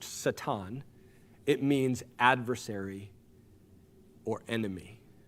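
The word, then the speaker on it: שָׂטָן: Well, the word Satan means, literally in Hebrew, it's pronounced Satan.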